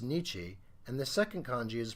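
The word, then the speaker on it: 日: Now, the first kanji here is pronounced nichi, and the second kanji is pronounced hon.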